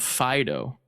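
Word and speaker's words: Fidough: dog in the name can you guess how the name is spelled yes d-o-u-g-h yeah phido getting it because it's a dog but also like cake um there's also a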